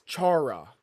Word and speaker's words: Chara: who is already a If you say Kara, bro, you're wrong. Kara? That's not fucking Kara. There is no way people pronounce that shit like Kara, bro. To be fair, I choose not to remember 2025 and 2024, so that makes sense. It's okay. I barely remember it either. There is not pronounced Kara, bro. It's Chara.